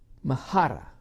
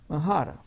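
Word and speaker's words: μάχαιρα: Well, in the Greek, it's spelled this way. Mahara. Mahara.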